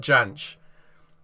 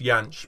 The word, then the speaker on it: Jansch: It's like Bert Jansch. It's meant to be pronounced Yanch, but Bert pronounced it with a J, so that's how I'm going to pronounce it too.